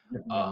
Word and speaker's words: Ip Man: that's the proper Chinese way of saying it. Ip Man, right?